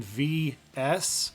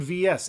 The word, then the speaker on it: VS: I'm here to discuss how do you pronounce evercade vs is it as in vs or is it versus me personally I call it the evercade vs I've always called it that um or you know